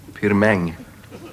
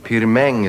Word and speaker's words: Pirmin: Pirmin Surbryggen. Pirmäng. Va? Pirmäng Surbryggen, det är franskt uttal. Han kommer från franska Schweiz.